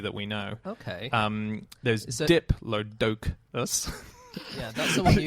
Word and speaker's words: Diplodocus: Well, I think it's a Diplodocus, isn't it? well, I say Diplodocus. Do you? But I say Diplodocus. a lot of people say Diplodocus, and that's the American pronunciation.